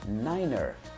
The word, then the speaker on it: niner: Então, o número 9 em contextos onde você está em comunicação com o controle de tráfego aéreo, você vai usar a pronúncia niner. Niner.